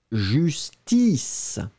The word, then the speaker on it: justice: La différence entre les deux, ça va être la différence entre le E, justesse... et I, justice, justesse, justice.